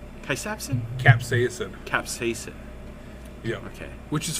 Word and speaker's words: capsaicin: Capsaicin? Capsaicin.